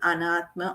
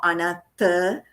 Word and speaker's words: Anatta: Elimination of that is called Anatma or Anatta, depending on different pronunciations.